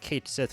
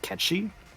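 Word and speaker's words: Cait Sith: got to be like Kate Sith related huh which apparently is actually pronounced catchy is what I've heard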